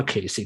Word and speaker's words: Kaycee: Like I saw Casey because it's spelled Kaycee.